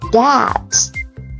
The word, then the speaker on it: debt: 第六种 BT 结尾 B 不发音 Debt Doubt。